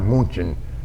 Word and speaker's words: München: Our division was going to take the city of Munich, which in German is pronounced München, and so we were going to take München.